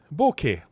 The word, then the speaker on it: bokeh: So on Monday, I talk about bokeh.